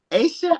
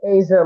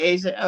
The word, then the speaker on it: Aisha: Aisha, how do you say your name? I'm sorry. I'm messing it all up. It's Asia, like the continent. Okay, Asia.